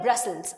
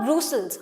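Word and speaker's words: Brussels: इसके अलावा there is a small capital जिसको बोलते हैं ब्रसल्स। अब इसकी प्रोनाउंसिएशन इज नॉट ब्रूसल्स, हम इसको ब्रसल्स बोलेंगे ना।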